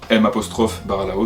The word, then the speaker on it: Mbaralao: L'îlot s'appelle l'îlot de Mbaralao, M' Baralao, donc on prononce Mbaralao, avec un M un petit peu retenu comme ça.